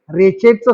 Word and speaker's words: wretched: रेचेडचं spelling पहा मुलांनो, WRETCHED. याच्यामध्ये दोन अक्षर सायलेंट आहेत, एक डब्ल्यू आणि दुसरा टी. त्याचा उच्चार काय करायचा? रेचेड.